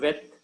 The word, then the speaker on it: Veth: When there is no dot in Beth, that is transliterated as V.